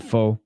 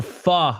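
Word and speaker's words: phở: You pronounce it foe. But yeah, apparently it's supposed to be pronounced fa.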